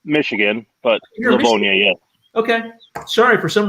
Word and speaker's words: Livonia: Is that pronounced Livonia? It's no, it's Michigan, but Livonia, yeah.